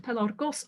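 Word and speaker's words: πελαργός: But occasionally there's an entry like this, in which we're told that the alpha of this word pelargos ought to be short, although the uneducated make it long.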